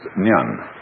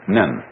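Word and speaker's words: 念: very interesting sign this it pronounced nyun japanese nin and the top part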